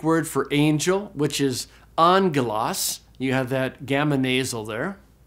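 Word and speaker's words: ἄγγελος: was the Greek word for Angel which is Angelas you have that gamonal there the Greek word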